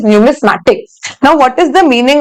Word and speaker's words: numismatic: to pronounce it wrong it is not numistic it is numismatic now what is the